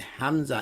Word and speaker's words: hamza: And hamza is pronounced ah. See? Ah. Ah. Ah. It cuts the breath because it's coming from the back of the throat as what is called a guttural.